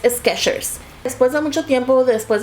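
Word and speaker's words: Skechers: inclusive cuando lo pronuncio Por lo general tiendo a pronunciarlo como sketchers con t que sí pensaba que se pronunciaba yo recuerdo vivamente haber visto la t y resulta que no no existe la t la t nunca existió y es sketchers después de mucho tiempo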